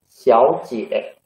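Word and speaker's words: 小姐: There are two third tongues. So 小 we should read 小姐 second tongue.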